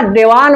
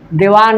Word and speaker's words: देवान: बोर्डे पर बोला ना, देवान बोला ना, देवान। देवान न कहब तो हो गई तो हलन तो हट जाई। थोड़ा सा न के उच्चारण कर। देवान, देवान न में हलंत बा और नहीं खे।